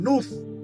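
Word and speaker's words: nous: A esa razón se le llamó siempre el nus. se escriba se escribe n o u y el nus es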